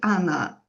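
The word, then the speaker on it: она: So you say, you write Ona, but you say Anna.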